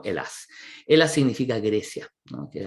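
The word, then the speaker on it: Ἑλλάς: Así se lee, es un Y con dos lambdas, un alfa y termina en una S, ¿no? La S que nosotros pronunciamos como Elas.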